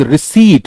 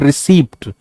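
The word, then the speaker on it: receipt: This is रिसीट, इट्स नॉट रिसीप्ट. मैंने रिसीप्ट ले लिया, इज इनकरेक्ट.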